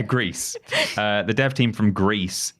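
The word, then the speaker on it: Gris: I think it's pronounced. Well, you have to say it with like an accent. Grease. Like the country. Yeah, Greece.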